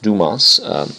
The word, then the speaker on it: Dumas: what we've been doing is something called the dumas method for determining the molecular mass now it's pronounced dumas although some college students you know use a